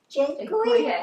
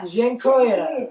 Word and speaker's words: Dziękuję: Dziękuję. Dziękuję.